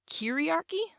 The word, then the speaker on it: kyriarchy: We talked about kyriarchy. I believe that's how you say it. It's Kyriarchy, kyriarchy, which is, if you'd like